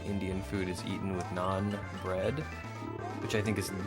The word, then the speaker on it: naan: word because I mean obviously it's spelled n a a n but when I when it hits my ear I I hear n o n like not like it's not bread it's non bread.